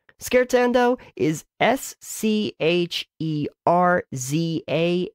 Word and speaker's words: Scherzando: it's probably worth noting how to actually spell skirts and oh is SCH ii are za and d oh